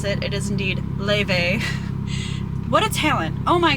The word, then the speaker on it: Laufey: I now know how to pronounce it. It is indeed Le.